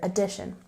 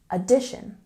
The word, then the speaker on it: addition: pronunciation for the word addition we have a stress on the second syllable addition addition good and again